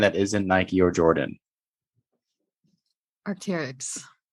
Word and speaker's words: Arc'teryx: isn't Nike or Jordan Arc'teryx oh wow that's how you say it Arctic yeah you didn't know that no I thought it was like Architects bro yeah weird names